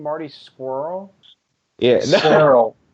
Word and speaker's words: Scurll: way, is that how you pronounce his name, Marty Squirrel? Yeah, Squirrel. It's Skrull.